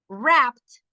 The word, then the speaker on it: wrapped: Wrapped suena T.